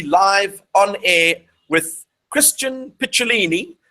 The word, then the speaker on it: Picciolini: And we are officially live on air with Christian Picciolini, which is the Italian pronunciation for his surname, or his last name, as you would say in the US.